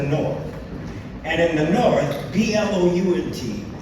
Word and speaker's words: Blount: And in the north, B-L-O-U-N-T, the O is not silent, it's actually pronounced. As in mount or count, it becomes Blount.